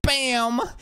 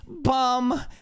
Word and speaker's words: Bam: like actually any news it's not bam it's bum you are basically saying